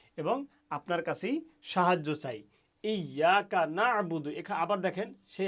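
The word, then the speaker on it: إياك: এই ইয়াকা নাবুদু এখানে ইয়াকা নাবুদু উচ্চারণ করতে গিয়ে আপনাকে একটু প্রেসার দিতে হবে কারণ ইয়া শব্দের উপরে তাসদিদ আছে আর তাসদিদ যেখানে থাকে সেখানে একটু চাপ লাগিয়ে উচ্চারণ করতে হয় ইয়াকা এবং অর্থগত দিক থেকেও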